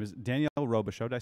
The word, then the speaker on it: Robichaud: It's like Robichaud. Yeah. Okay, I see it. I see Robichaud.